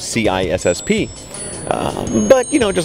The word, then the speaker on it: CISSP: differently you jav it you say sisp although the official pronunciation is c i SSP uh but you know